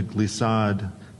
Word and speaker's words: glissade: bottom, Maria decided to glissade down the mountain slope. Glissade. Are there any ulterior pronunciations? Yes. Another way to pronounce it is glissade.